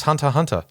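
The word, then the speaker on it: Hunter × Hunter: I didn't realize it was supposed to be pronounced Hunter x Hunter.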